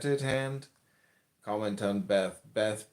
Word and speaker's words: Beth: Beth, pronounced Baith, transcribed as B, the number 2, meaning house, transparent intelligence.